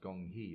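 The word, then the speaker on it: 工合: of that movement was gung ho pronounced Gong Yi in Chinese meaning to work together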